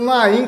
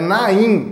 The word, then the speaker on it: Nahim: puto que o Mateus estava pronunciando narin como na rinha é ele falou não não o h não se fala é Naim Naim no R não tem R é na mhp vai novo